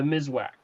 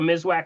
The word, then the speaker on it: Miswak: That's why if you have an issue with that, that's we bring your attention over to the Mizwack, the natural Mizwack sticks. Okay, the Mizwack sticks is spelled Miswak, and that's considered to be nature's toothbrush.